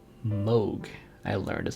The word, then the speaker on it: Moog: can learn apps in like a cathedral say Moog I learned is how that's pronounced basically the only synthesizer brand I know